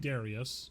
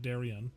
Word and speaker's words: Darius: I do want to say his name is definitely Mhm. Darius, not Darian.